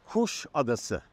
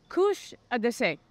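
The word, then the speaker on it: Kuşadası: And we are coming to you live from Kusadasi. I said that right, John? The right pronunciation is Kusadasi. Kusadasi.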